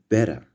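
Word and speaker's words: beta: The next is better, which sounds like B in Bible.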